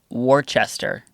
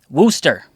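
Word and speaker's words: Worcester: heading to remember I want to say no pronounce it correct I got this yep the map would say Worchester Massachusetts Google would say no no no we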